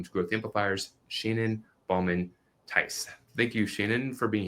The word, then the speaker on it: Theis: And whenever there's two vowels in a German last name that are together, you always pronounce the second one. So in this case, my name is EI, so you pronounce it Theis.